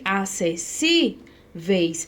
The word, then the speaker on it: acessíveis: Olha só, a palavra acessíveis, ela tem um acento aqui, ó, no si, acessíveis. E esse acento não apareceu, então não pode ser a letra A, porque estamos procurando a correta.